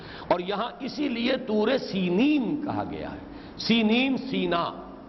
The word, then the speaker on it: سینین: صحرائے سینا، یہ ہے، سینین اس کا تلفظ ہے، یہ جمع کا صیغہ